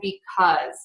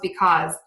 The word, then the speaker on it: because: are those these and because those these cause because those are all pronounced with the z sound at the end yeah and those are